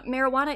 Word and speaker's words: marijuana: Uh, marijuana is the only English word in which the J is silent, which is interesting.